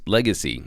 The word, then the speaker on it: LGCY: today is legacy network it's actually spelled lgcy its ticker is lgcy but it's pronounced legacy as you see why